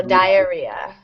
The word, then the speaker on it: diarrhea: Yep, long I there, so diarrhea.